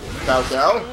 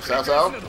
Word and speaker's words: Cao Cao: I didn't realize I was allied with Cao Cao, or Cao Cao, rather. I think you pronounce that right.